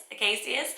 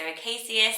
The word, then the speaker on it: Acacius: so they say the ka rather than ka. Acacius. That's how I was saying it. So you could say it either way. I really believe that when it travels around, we do have different pronunciations, even between around Europe, we have different pronunciations of things. So Acacius is how I'm going to stick with saying it, and I just really love it.